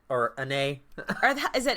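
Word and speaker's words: Anet: In the lands of Annette, or Annay. Is it Annay? I guess it would be, because the T is silent in French.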